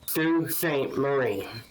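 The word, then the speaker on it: Sault Ste. Marie: But um the city I had mentioned is pronounced Sue St. Marie.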